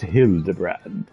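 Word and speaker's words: Hildibrand: Oh, it's pronounced hill the brand.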